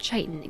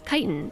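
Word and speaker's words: chitin: um hold the thought isn't it kite in not chitan yeah it's kitan I that's how I've always heard it I've never heard it pronounced chitan but let's finish this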